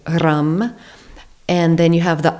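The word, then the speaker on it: ram: together om and then rum so r a m pronounced R like r u hm or r u m and the r is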